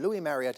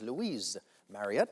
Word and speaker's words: Louis Marriott: they identified the gentleman Louis Marriott as Louise Marriott. They pronounced the S on his name.